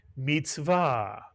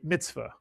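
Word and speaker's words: מִצְוָה: And another word like it, mitzvah. You'll hear people say mitzvah, but the actual pronunciation in Sephardic Hebrew is mitzvah, and it means commandment.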